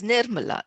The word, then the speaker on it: Nirmala: My name is Nirmala. The emphasis is in the first syllable.